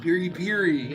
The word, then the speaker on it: piri piri: Oh, it's actually pronounced piri piri.